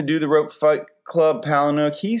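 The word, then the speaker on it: Palahniuk: his name to do the Rope Fight Club Palin hook he said and I don't know if this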